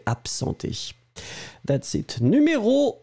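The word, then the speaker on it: absenter: then you go for absenté. Absenté, remember, A-B-S-E-N-T-E-R. B-B-B, ab. But then in that case, you will pronounce it a bit more like p-p-p, absenté.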